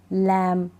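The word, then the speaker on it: lamb: टॉम डम क्लाइम कॉम लैम थम अब ये एम के ऊपर रुक रही है मतलब बी सुनाई देता है लेकिन नहीं ये बी साइलेंट है बी को नहीं पढ़ते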